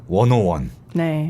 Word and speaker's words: 101: 저희가 다루게 됐어요네 프로듀스 원오원네 이거 10이라고 읽으면 안 된다면서요 그게요 스 이라고 읽었었는데 다르더라고요 저를 보니까 hot 하시라고